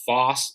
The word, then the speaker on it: Fohse: I think the company's pronounced Foss. It's a FOHSE.